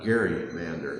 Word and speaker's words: gerrymander: salamander and so then they called it the Gary Mander and over the time it became pronounced Jerry Mander but that's where the name Jerry Mander came from the first time this